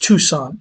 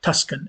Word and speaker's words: Tucson: team based in say tucson arizona even the example of is pronounced tucson arizona not tuscan arizona but point taken a